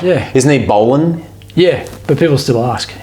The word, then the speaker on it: Boland: Is it pronounced Boland? Yeah.